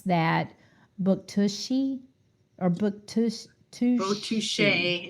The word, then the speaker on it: Bouctouche: but you pronounce that Buktushi or Buktush Bouctouche. It's probably or Bouctouche. Buktuche. Bouctouche. Yeah, it sounds French.